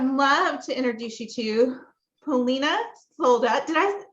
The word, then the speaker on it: Polina Solda: it so I'd love to introduce you to Polina sold out did I pronounce that correctly okay good she is known